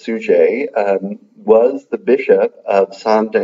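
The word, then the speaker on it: Suger: like sugar or something but his name is pronounced sue J was the Bishop of Santa Annie looks like st.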